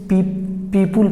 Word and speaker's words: people: तो पीपल, बहुत सारे लोग इसे पीपुल पढ़ते हैं साहब, लेकिन ये प्रोनाउंसिएशन बिल्कुल गलत है। जब भी आप इसे पढ़ेंगे तो पीपल पढ़िएगा, पीपल। Once again पीपल। तो पीपल को आप क्या मार्क करेंगे?